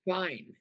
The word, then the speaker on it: fine: Um, the word fine, For fun. Fine, the E is silent.